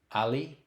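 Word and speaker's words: alli: it's an informal language many kichua speakers spell it with two L's but it's only pronounced like there's one L alipuna or puncha good afternoon Ali chishi good evening Ali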